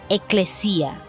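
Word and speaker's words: ἐκκλησία: La palabra traducida en español como iglesia está codificada en el griego bajo el número 1577 y se pronuncia eclesia, la cual significa llamar afuera, es decir, para una reunión popular, una congregación.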